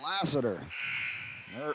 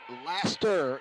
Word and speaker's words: Laster: Foul's on Lassiter. Laster, excuse me. Getting tired and putting a few more syllables in there.